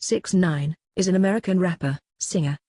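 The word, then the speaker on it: 6ix9ine: twenty one day apocalypse six six nine nine pronounced six nine is an American rapper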